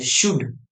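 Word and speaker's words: should: ओ यू एल डी जसं याच्यात के silent होतं ना तसं याच्यात एल सायलेंट असतं याला वाचायचं शुड याला वाचायचं शुड एस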